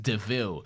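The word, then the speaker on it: De Vil: is still better than this car is a devil it's pronounced devil and then and then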